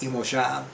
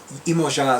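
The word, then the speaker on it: Iemanjá: I used it with Imoja, which is how I love pronouncing Yamaya's name. And Imoja is how they say her name in Brazilian Portuguese.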